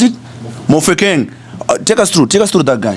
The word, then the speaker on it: Mofokeng: Mofokeng, how do you pronounce it? Mofokeng.